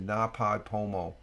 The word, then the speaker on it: NaPodPoMo: She does the Na Pod Pomo challenge, and just go do an X/Twitter search on Na Pod Pomo.